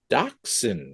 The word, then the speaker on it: Dachshund: And it is, I'm going to pronounce this wrong, but it is The Ugly Dachshund.